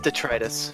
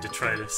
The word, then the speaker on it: detritus: Okay, Merriam-Webster tells me it's detritus. Okay, detritus.